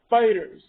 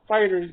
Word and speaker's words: FighterZ: people who play fighters it is pronounced dragon ball fighters not dragon ball fighterz g because the last